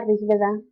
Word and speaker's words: Rigveda: escrito en sánscrito y se pronuncia así poniendo el acento en la rigveda para los que pregunten